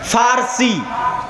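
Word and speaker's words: فرس: পারস্য মানে ফারসি। বাংলায় বলে প। কিন্তু ওটাই আরবিতে আছে ফারসি। ফুরস। কেন আরবিতে পর কোন উচ্চারণ নাই। আরবিতে পর কোন উচ্চারণ নাই। সেটা আমরা পারস্য বলতেছি। ওটাই আরবিতে বলে ফুরস ফারসি।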